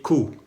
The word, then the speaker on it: coup: Así se escribe Q, con la C, la O, la U y la P. Y la P no se pronuncia, solamente Q.